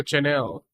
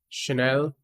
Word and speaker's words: Chanel: a strategy that brought Coco Channel I think it's Chanel I think so that's how it pronounced so much problem should